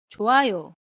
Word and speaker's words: 좋아요: 받침 히웃은 뒤에 몸을 만나면 히웃이 탈락한다고 했어요. 예문 볼게요. 좋아요.